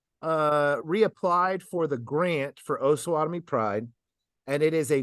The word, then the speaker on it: Osawatomie: So how far off am I with this with Osawatomie Pride?